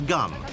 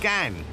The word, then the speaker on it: Gan: It's Gun. I'm not going to say too much about him because we shouldn't glamorise guns on television. Oh, I apologise, just been told his name is pronounced Gan.